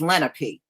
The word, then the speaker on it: Lenape: few of them and they told me the word is Lenape so if it's pronounced any other way then they must not